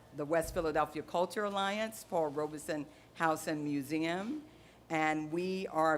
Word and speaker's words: Paul Robeson: First of all, I'm going to tell you the correct pronunciation. It is Paul Robeson.